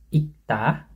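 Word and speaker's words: 읽다: Ini bunyinya kah, kayak kah. Jadi menjadi ikta, ikta. Ini bahasa Indonesianya baca, membaca. Ini bacanya ikta, ikta itu.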